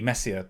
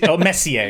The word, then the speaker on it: Messier: dude it's named after charles messier is probably how you're supposed to pronounce it because it's french like mayonnaise um so uh oh